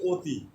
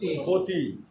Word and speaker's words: অতি: তো এখানে নিয়ম হচ্ছে যে প্রথমে যদি অ থাকে, অর পরে রস্বীকার থাকলে বা জ ফোলা থাকলে বা রিকার থাকলে বা কয়বদ্ধ সহায়ক এগুলো থাকলে আর উচ্চারণ হবে ও। আর উচ্চারণ হবে কি? ও। এটার উচ্চারণ হচ্ছে অতি।